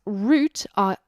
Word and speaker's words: route: little bit awkward because in British English we pronounce root as in r o u t e as root but that can also sound